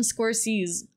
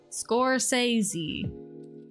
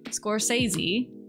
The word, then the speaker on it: Scorsese: there's probably worse Martin scorses I don't know am I pronouncing that correctly I don't know um symbol smiley face alternative form for smiley face synonyms antonyms score sazie Scorsese okay Martin Scorsese yeah I don't [